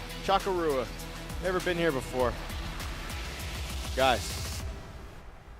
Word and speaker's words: Chocorua: And we're going to take a look at Chocorua, which I used to call Chocorua.